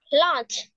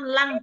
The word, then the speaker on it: lunch: lunch lunch Đúng rồi nếu các bạn mà đọc là từ lă lă lăng lăng là cái kiểu như là cái lá phổi Nếu mình đọc là lăng nha Thế đâm ra là mình sẽ đọc đúng là mình đọc là lun Còn nếu mà các bạn đọc là lăng lăng là thành cái lá phổi luôn á lunch we make lunch